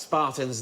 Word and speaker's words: Sparta: Because there weren't just Spartans there. Sparta! There were... That is how it's pronounced.